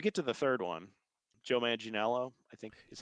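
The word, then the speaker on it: Joe Manganiello: But when we get to the third one, Joe Maninelo, I think is how you say his name.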